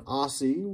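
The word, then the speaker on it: Aase: zamberg and some others don aussie which we learned was how you pronounce that name he's got a giant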